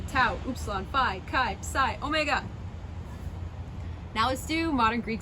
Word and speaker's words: omega: is the little o it's a long o so it can be like the um oh and that's maybe ah and soft or o and cold i guess so ah